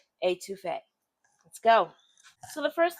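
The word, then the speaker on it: étouffée: It's always pronounced the same, etouffee.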